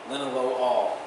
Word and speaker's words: linalool: So, linalool, or linalool, depending if you want to pronounce it incorrectly, but the OL is always pronounced all, so linalool.